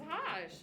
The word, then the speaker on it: Hajj: I don't know how to pronounce it. Try. Taj? That's perfect. That's Hajj.